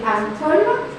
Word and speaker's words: ankle: It is literally pronounced as my ankle, a relative of mine. The brother of my mother is my ankle. A little bit same pronunciation.